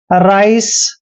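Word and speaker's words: rice: इसको बाइक पढ़ा है जैसे राइस राइस में भी लास्ट में ई आया है इसलिए हमने ई का उच्चारण नहीं करना है जैसे मैं कुछ एग्जांपल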